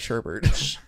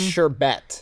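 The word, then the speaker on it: sherbet: is it's s-h-e-r-b-e-t yeah everyone pronounces this Sherbert but that's not correct because there's no second R there's the sure there's the first star but Bert there's no Bert isn't there what about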